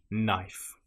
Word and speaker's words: knife: If you have the letters K N together in that order, again, you probably won't pronounce the K. A common example will be knife. It just starts with a sound N. Knife.